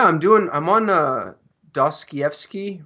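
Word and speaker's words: Dostoevsky: the dream yeah I'm doing I'm on a DOS Kiev ski right now did I say that right yeah it's so many syllables this is Russians yeah I'm reading The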